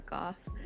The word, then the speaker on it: gogh: fun fact, English speakers tend to say go or goth, but the Dutch way of saying it would actually be closer to ka.